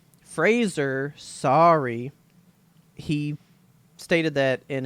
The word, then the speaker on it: Fraser: gotta say Jonah Brendan Frazier Fraser sorry he stated that in an interview I watched yesterday he said Fraser rhymes with razor and I went got